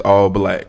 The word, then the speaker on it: ALLBLK: Excuse me, rebrand Black Focus streaming service UMC as All Black, and it's spelled ALLBLK.